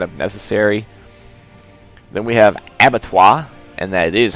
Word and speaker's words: Abattoir: Then we have Abattoir, and that is how you pronounce that.